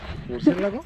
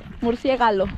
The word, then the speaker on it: murciélago: ¿Murciélago? Murciélago. Murciégalo.